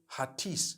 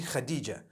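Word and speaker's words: Hatice: In Turkish, some people spell it H-A-T-I-C-E. I would say Hatis for that. No, it's actually Khadija. In Turkish, that's the way they write it.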